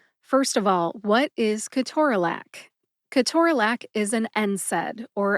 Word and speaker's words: ketorolac: The next syllable is tor, which rhymes with door, then which is a short schwa A sound, and finally lac, as